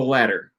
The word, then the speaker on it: latter: former or the latter how is that pronounced any difference from the word ladder climb a ladder the answer is they're not at least in my dialect ladder and ladder are pronounced exactly the same so you could call